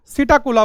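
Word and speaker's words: Psittacula: Parrot जिसको हम सिटाला बोलते हैं। पी साइलेंट है यहां पे।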